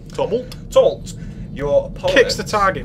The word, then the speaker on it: Tumult: it up, is your kick, and let me pronounce this right, it's Tumult. Tumult.